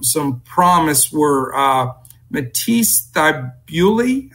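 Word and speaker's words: Thybulle: promise were Matisse that bewdley I believe his name is pronounced he he was real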